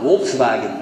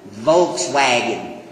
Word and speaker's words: Volkswagen: make the Volkswagen that's what they call it Volkswagen we pronounce it Volkswagen it's a reversal of